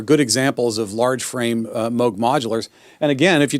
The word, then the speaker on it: Moog: It's pronounced Moog. It's not Moog.